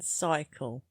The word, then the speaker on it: cycle: There's no P in cycle. No hidden secret undercover P? No P. Cycle is spelled C-Y-C-L-E.